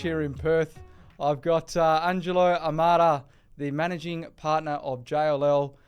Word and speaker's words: Angelo Amara: I've got Angelo Amara, the Managing Partner of JLL.